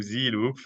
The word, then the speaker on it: Zeloop: close the loop so we turned that to z loop and that's and the name was available and